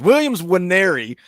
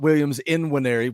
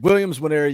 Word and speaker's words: Williams Nwaneri: I've been saying it wrong so many times. Williams Nwaneri, not Williams in Nwaneri. Williams Nwaneri.